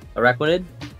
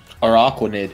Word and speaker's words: Araquanid: arachnids so I understand I thought that's how you pronounced it araquanid that's the Pokemon yes yeah araquanid it's Aqua right it's a it's a